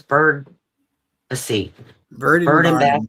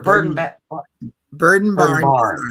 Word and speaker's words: Bird and Barn: Her channel is Bird and Bath Designs. Or Bird and Barn Designs. I knew I would say it wrong. I always say Bath. I always think of Bed Bath and Beyond.